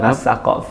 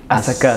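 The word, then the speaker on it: السقاف: Yang betul kalau dalam tulisan bahasa Arab As-Saqqaf. Saqqaf ya. Tapi orang-orang Hadramut itu kalau nyebut Qaf Ustaz, Qaf. Qaf ya. Qaf. Gitu. Terus akhirnya orang bacanya As-Saggaf.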